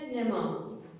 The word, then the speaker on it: nema: Benim kelimem ise nema. Bu kelimenin okunuşunda a sesi uzundur. Ek gelse de bu kural değişmez. Toplumda A sesinin kısa söylenişi yaygın olsa da doğrusu bu.